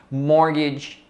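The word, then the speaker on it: mortgage: então isso é edson morde morde palavra bem estranha né esse também é mudo o morde para o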